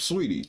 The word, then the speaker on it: Saweetie: That's Her name is Sweetie or Saweetie? Sweetie. No. Sweetie. It's Sweetie.